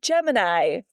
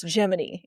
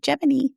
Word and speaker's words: Gemini: Yes, you're like, it looks like Gemini, but it's Gemini. Yes. But it's not. NASA is special, and they pronounce it Gemini.